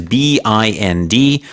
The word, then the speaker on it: bind: And here, bind is B-I-N-D. The pronunciation a little bit different, perhaps, than it looks, bind.